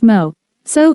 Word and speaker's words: Meursault: Meursault pronounced Mo. So is a French settler in Algeria who learns of his mother's death by telegram.